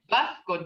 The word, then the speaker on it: Mvskoke: How do you pronounce Mvskoke? Mvskoke, this is to Cynthia.